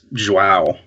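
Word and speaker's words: João: You said it in the podcast. It's Joao. Yeah.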